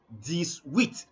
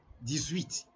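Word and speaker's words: dix-huit: it is not easy to say 18 in French just say 108 and you are done this we this we and now to say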